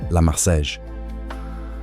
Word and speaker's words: La Marseillaise: La Marseillaise, French pronunciation, La Marseillaise, became the national anthem of France.